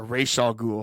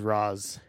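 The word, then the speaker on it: Ra's al Ghul: neeson yeah lovely um a racial ghoul have i think they pronounce it that way in this but i always thought it was razz yeah either way whatever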